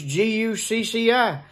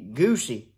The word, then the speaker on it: Gucci: well there's another name it ain't got no h in it why it's g-u-c-c-i why they say gucci sound like got a h in it i and i thought that ought to be goosey g-u-c-c-i goosey and i said that